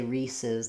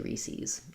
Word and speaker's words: Reese's: So really, we should say Reese's the same as we do pieces, but some people do say Reese's.